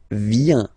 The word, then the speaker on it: vient: Il, elle, vient. Final T not pronounced.